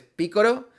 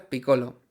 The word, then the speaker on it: Piccolo: Los japoneses no hacen la L, hacen siempre R. Es decir, si te llamas Lolo y vas a Japón, pues a lo mejor te llaman Roro. Bueno, este es el origen de por qué eh Piccolo se pronuncian en en algunas partes piccoro y en otras Picolo. Como he dicho, lo correcto quizá en este caso es decir Picolo, que es el origen del nombre.